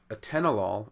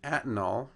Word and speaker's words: atenolol: are the mispronunciations in a tenolol it should be on the second syllable in metformin it should